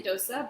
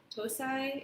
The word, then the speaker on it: dosa: I would say dosa, but I think in Singapore and some other places, the spelling and the pronunciation of tosai is more common. And I think that just depends on, kind of the language, culture, exact place in South India that is coming from, or I don't know.